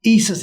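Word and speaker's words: Esus: Spell that. Isis, E-S-U-S.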